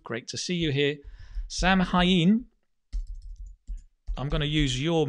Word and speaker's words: Samhain: I'll get the pronunciation right. Bear with me. Yes. Samhain. Samhain.